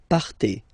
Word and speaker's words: partez: Then for vous, classic ending for vous as well, EZ, but then you pronounce it et. Vous partez.